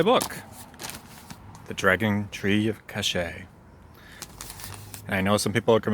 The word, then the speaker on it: Kaŝe: sponsored by my book the dragon tree of cachet i know some people come in mispronouncing it and they're gonna like say like kaze or cassay but you know it's actually pronounced cache anyway